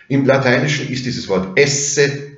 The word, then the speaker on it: es: In orthografisch identischer Form haben Sie das im Französischen erhalten. Tu es, nur spricht man das S am Schluss nicht, aber im Lateinischen naturgemäß schon. Also es, du bist.